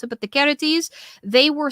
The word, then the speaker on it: Charites: The Charites, or the Charities, as some people pronounce it, but the Charites, they were said to have a hand in all joy and merriment.